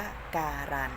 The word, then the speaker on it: การันต์: เป็น พยัญชนะ ตัว เดียว อย่าง เช่น คำ ว่า การันต์ ค่ะ ถ้า เรา ไม่ ได้ ออก เสียง ต่อ เต่า กะ น นะ คะ เรา ออก เสียง ว่า การันต์ และ ต่อ มา ตัว อย่าง ของ คำ ที่